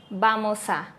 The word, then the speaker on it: vamos a: sólo como una va vamos a decimos vamos a vamos a van a decimos van